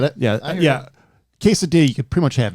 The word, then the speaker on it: quesadilla: Quesadilla. I want 50 of those. Pronounce it correctly. It's a quesadilla.